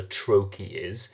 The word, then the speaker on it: trochee: always remember what a trochee is the sound of the word trochee actually reveals its meaning. Trochee. A trochee is one stressed syllable followed by an unstressed syllable.